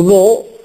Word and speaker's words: know: presto non fu pronunciata, qualcosa di simile avviene nella lingua inglese per il K seguito da N. Voi sapete che il verbo to know è scritto know, know con un doppio, ma non si dice know, ma no.